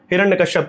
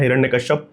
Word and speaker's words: हिरण्यकश्यपु: उससे ज्यादा हिरण्यकश्यप के विषय में है। हिरण्यकश्यप हिरण्यकश्यपु दोनों तरह का उच्चारण मिलता है।